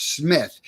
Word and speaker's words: Smyth: So who is Bart Smyth?